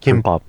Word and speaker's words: gimbap: He's just like, yo, this is basically just Kimbap. Kimbap. Yeah, but it's spelled G because Koreans pronounce G as a K.